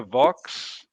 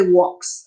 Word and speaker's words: vox: pronounce it uh the vox vox populi or you could say walks i mean the romans pronounced v is w but late latin also pronounced that b is b so it's up to you uh i i use